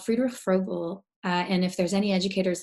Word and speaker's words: Friedrich Froebel: Just because I will completely butcher it and would like Yeah, to hear it pronounced again. it's Friedrich Froebel.